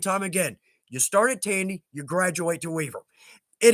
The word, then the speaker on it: Tandy: I started with Tandy Tools, as have so many on here have. Yeah. And again, there are competition. I typically say rhymes with candy, right?